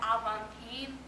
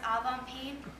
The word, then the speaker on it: Algonquin: And we had lunch at the Algonquin, and you complained about how Americans pronounce it Algonquin, which is pretty much how I pronounce Algonquin.